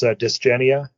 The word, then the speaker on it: Dysgenia: It's Dysgenia.